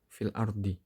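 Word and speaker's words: في الأرض: Contoh lain di lafadz fil ardi. Itu kan hamzahnya berharokat fathah. Lamnya huruf sebelumnya itu adalah huruf shahih, yaitu lam. Dan lamnya berharokat sukun. Jadi membacanya lamnya berharokat fathah, terus hamzahnya dibuang. Jadi bacanya filardi.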